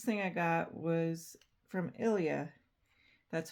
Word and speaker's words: ILIA: Uh the next thing I got was from Ilia.